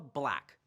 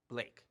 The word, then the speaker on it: Blake: And Paula Black, a pilot. That's not right. What? She's not a pilot. Pilot, yes, but she's Paula Blake. Blake, not Black. That's right, Blake.